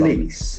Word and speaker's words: police: So here the Letter O has sound. Police.